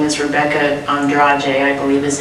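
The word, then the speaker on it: Andrade: and a Brazilian gymnast whose name is Rebecca Andra I believe is how it's pronounced and both of them in a little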